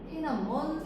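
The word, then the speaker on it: 톈안먼: 천남문을 중국 발음으로 태남원이라고 하는데 태남원 사건이 발생합니다.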